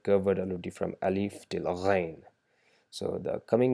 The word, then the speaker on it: غ: And finally we learned ghain, that is produced by vibrating the throat and trying to produce the sound G, g sound by vibrating the throat a little bit. Ghain, ghain. That's how you produce the sound ghain.